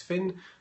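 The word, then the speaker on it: Phin: In the very unlikely event that you don't already follow me on Twitter, my Twitter handle is Finn. My surname is spelled P-H-I-N.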